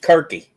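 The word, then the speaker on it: Circe: It's It's pronounced Kirky.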